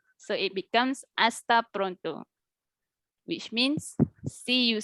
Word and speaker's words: hasta: the h in spanish language is silent so we don't say the letter h so it becomes asta pronto which means see